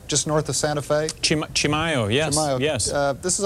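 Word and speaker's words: Chimayó: there well let me just point out that Chimayo isn't unlike a lot of towns in America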